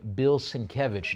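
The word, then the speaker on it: Bill Sienkiewicz: Cover art by the legendary Bill Sinkevich. Notice my correct pronunciation of his name.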